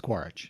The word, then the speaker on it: Quaritch: It's like Quidditch, but it's Quaritch.